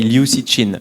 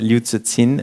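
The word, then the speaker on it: Liu Cixin: I pronounce that correctly in French we say Luci chin but I know you don't pronounce it this way way loots at sin if I'm not wrong and so so he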